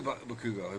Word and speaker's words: Bakugo: no, I want to do Bakugo. Bakugo by far. I still love Bakugo. I love him. Bakugo. Bakugo? Bakugo. Bakugo. It's like Chicago, but Chicago. not. Bakugo.